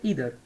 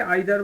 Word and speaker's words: either: ইদার, অনেকে আইদার বলে, একই জিনিস। হ্যাঁ, অ্যাকচুয়াল উচ্চারণ ইদার। দেখো, ইদার বা আইদার আমি যখন যেটাই বলি ওটা একই জিনিস, মেনে নিও। দেখো, আমরা বেঙ্গলিতে যারা পড়েছি তারা আমরা আইদার বলি, ইংলিশ মিডিয়ামে এটাকে বলা হয় ইদার।